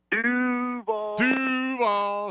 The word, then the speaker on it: Duval: Duval. See, just emphasize that first syllable, Cody, and everything's fine.